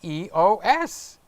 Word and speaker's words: EOS: good for norm its e OS just like ISO is ISO and la Fitness's LA